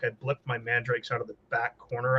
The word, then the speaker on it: Mandrakes: of scorching with dark lances and then my mandrix which we both mispronounce that ever again you mispronounced mandrakes yeah I was really tired in the wrong